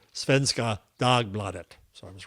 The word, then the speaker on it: Svenska Dagbladet: So I look up and according to Gemini it is pronounced Svenska Dagbladet.